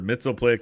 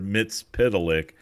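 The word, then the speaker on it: Mxyzptlk: you're right Jan there there's like two schools of oh Jesus creating that character it's Mr melick or Mr mitz Pik and there's a big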